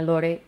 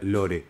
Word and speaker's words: lore: Me gusta que hayamos decidido tácitamente pronunciar lore y no lor ni ninguna otra variación.